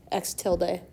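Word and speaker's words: x̃: more stats and it's an X with a tilde over top pronounced X tild day I'm never going to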